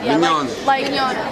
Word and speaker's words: Mignana: Mignana? Mignana. Like tomorrow in Spanish, mañana, but it's Italian.